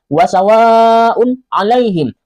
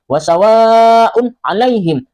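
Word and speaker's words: وَسَوَاءٌ عَلَيْهِمْ: Cara membacanya harus jelas sama seperti tulisannya. Wasawaun alaihim, wasawaun alaihim. Un a, un a.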